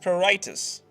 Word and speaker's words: pruritus: The medical term for itchiness caused by kidney disease is pruritus (pronounced proo-RYE-tus).